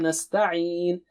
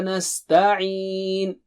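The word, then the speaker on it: نستعين: This is another opportunity for practicing the sound of ayn. Okay, repeat 3 times. Nasta'een. Nasta'een. Nasta'een. Nasta'een. Wa Iyyaka nasta'een.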